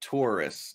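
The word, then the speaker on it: Touryst: the forest no that tourists oh the target yeah it's spelled a little weird it's spelled like with a Y but uh it's just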